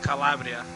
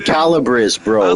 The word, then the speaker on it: Calabria: I said Calibbrris, but I said it wrong. Yeah, I said Calibris, bro.